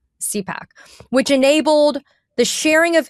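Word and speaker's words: CIPAC: Trump disbanded an entity called is it CYPAC? C I P A C. How do you pronounce it? CPAC. CPAC, which enabled the sharing of information between the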